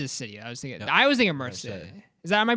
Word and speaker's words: Marseille: I was thinking Marseille. Am I pronouncing it right, Mr. Frenchman? Marse. Yeah. Marseille.